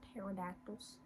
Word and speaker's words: pterodactyl: There's a P in front of that. Whoever discovered pterodactyls, why did you put a P in the beginning?